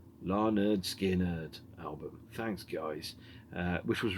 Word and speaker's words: Lynyrd Skynyrd: And then we've got Tuesday's Gone, originally released by Lynyrd Skynyrd in 1973 on the pronounced Larnerd Skynyrd album.